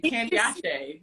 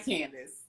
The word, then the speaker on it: Candiace: Candiace. Not Candice. Candiace. That's how you said her name.